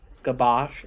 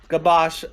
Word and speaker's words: Gabash: yell back um your your name's pronounced gob Ash gabash okay gabash uh I might need to